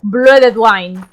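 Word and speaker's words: Bloede Dhoine: Pero es Blooded Wine.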